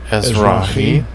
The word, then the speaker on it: Ezrahite: to say this word, Ezrahite, right? And it tells me in the Greek. Strong's H, or in the Hebrew, sorry. Ezrahi. See, I was saying it wrong. Ezrahi, right?